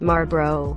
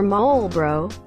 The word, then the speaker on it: Marlboro: pronounce it at all you pick whether to drop the R or the L marburo or mole bro see I understand this